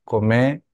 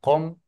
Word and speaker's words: Qom: como una G y que la Q suena como una Q, no como una C en este caso, y una Q castellana, sino una Q glotal. ¿Se acuerdan que decimos com, no se dice com tampoco, ¿no es cierto? Y se dice com, es más pronunciada, más glotal, como siempre lo suelo decir.